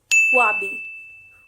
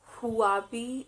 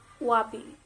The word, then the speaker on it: Huawei: information and communication technology or smart devices it's wabi wabi it's not huawei it's the sound of it is silent here wabi the next brand is a very common